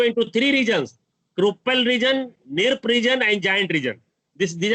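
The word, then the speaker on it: Knirps: Three dorsoventral part, which are known as Kruppel region, Nirp, K silent है, K is silent, Nirp region, giant region, and Kruppel region.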